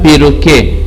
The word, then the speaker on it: perroquet: Un perroquet. And in our last class I told you the Q-U-E-T is as K. So you pronounce K. Are we together? So you pronounce it as K.